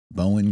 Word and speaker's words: Bowen: So, my name is Bowen and um I have a standard joke. It's pronounced like bow and arrow but with a silent arrow.